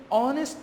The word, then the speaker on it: honest: second one he is honest doctor he is honest doctor here know it H is silent ace is silent here